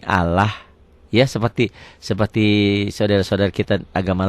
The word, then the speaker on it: Allah: Lafaz Allah dibaca tarkik. Ingat kik tipis berbunyi Allah.